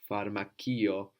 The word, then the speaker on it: φαρμακείο: But we also have the C that sounds like an S in pharmacy. Pharmakio, becoming a K in Greek.